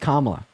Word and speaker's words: Kamala: Her name is pronounced Kamala.